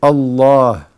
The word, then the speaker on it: Allah: being written it's pronounced where is the AL if pronounced and not written with the name Allah the beautiful name Allah where is it being pronounced and not written you say Allah Allah is before the before the last letter Allah Allah okay so the lamb is long the L the lamb